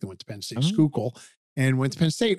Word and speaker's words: Schuylkill: So when people say, you're from the Schuylk, I said, it's pronounced Schuylkill.